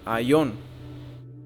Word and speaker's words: Aion: Y Salakia no puse la pronunciación, pero vamos a escucharla para ver. Strong's G165, Ion. Ok, so Aion.